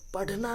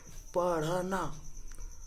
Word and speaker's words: पढ़ना: इसको क्या पढ़ेंगे? पढ़ना। पढ़ना नहीं, पढ़ना।